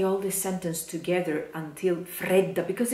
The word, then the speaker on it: fredda: So, stress on the first E.